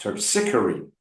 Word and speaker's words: Terpsichore: terp, Terp. Sick. Or E. Terpsichore. Okay? Try it okay, now. terpsichore, Give me that P. wait, terpsichore, There you go.